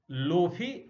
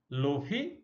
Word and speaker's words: Lotfi: और इनका नाम था लोफी ज़ादे, LOTFI, T साइलेंट है, लोफी, और ज़ादे ZADEH साइलेंट है।